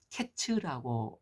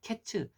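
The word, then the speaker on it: קץ: 생각하기 쉽지 않습니까 그런데 과일이 히브리어로는 케이츠라는 말인데 내 백성의 끝이 이르렀다 이르렀다 끝이 이르렀다는 것은 캣츠라고 말을 한다고 합니다 그래서 케이츠 캣츠 발음이 비슷한 워드 플레이를 하고 있습니다 그러니까 드러날 말은 여름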